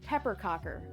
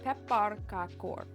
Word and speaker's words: pepparkakor: But at least it's not the typical American pronunciation that I have heard of pepperc cocker. It's pepper kakor.